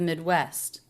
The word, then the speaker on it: Midwest: awah the of the Midwest the the think of the Midwest think of the Midwest think of the Midwest think of the Midwest West and I do pronounce the ending St cluster both sounds Midwest Midwest Midwest Midwest